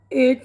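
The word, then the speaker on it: eight: silent वाले हुरूफ भी जैसे बाम पाम में एल टाइट एट में जी वगैरह ऐसे ही कुछ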